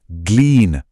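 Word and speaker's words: glean: इसे बड़े ध्यान से प्रोनाउंस कीजिएगा। ग्लीन।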